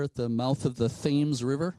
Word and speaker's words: Thames: It looks like a mansion, a brick mansion out there at the mouth of the Thames River. They pronounce it Thames in Connecticut, not Thames.